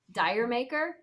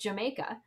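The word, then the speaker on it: D'yer Mak'er: of the holy that i always heard pronounce like uh wait how did i hear it pronounced uh dire maker yeah and it wasn't until somebody told me the story oh that it's actually based on like it's called it's pronounced jamaica like the because it's got the reggae feel and it's based on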